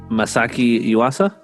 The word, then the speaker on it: Masaki Yuasa: Masaki Yuasa.